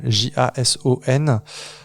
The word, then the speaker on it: Jason: Alors je sais pas comment ça se prononce, ça s'écrit Jason comme Jason, J-A-S-O-N. Mais comme c'est la contraction en fait de son nom complet, si je me trompe pas, moi je vais dire Jason à la française, qui a fait